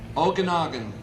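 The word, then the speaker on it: Okanogan: Pronounce it for me, Bob. Okanagan.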